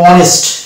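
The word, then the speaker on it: honest: অনুরূপভাবে এটা উচ্চারণ করবো অনেস্ট, শুধু এইটুকুর উচ্চারণ করবো অনেস্ট, এখানে এইচ কে বাদ, যদিও এইচ আছে তো আমরা এইচ কে বাদ দিয়ে দেবো।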